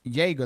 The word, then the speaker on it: Jaeger: Okay, so his name is pronounced Jaeger, like Jägermeister. Yeah, like Jaeger bombs.